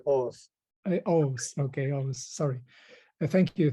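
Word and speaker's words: Oğuz: can pronunciate your name August would that be right but it's sorry and the g is silent it's like OS okay almost sorry thank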